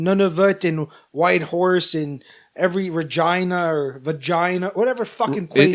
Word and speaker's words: Regina: But unfortunately, we're not going to do freaking Nunavut and Whitehorse and every Regina or Vagina, whatever fucking place. It's Regina. It's a city that rhymes with fun.